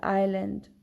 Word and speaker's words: island: The letter S is not pronounced before letter L in some words. Wherever we find S before L, there we do not pronounce this S. S becomes silent, as in the case with isle, island, right?